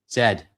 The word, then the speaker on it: Z: And it's pronounced Z, not Z. Zed.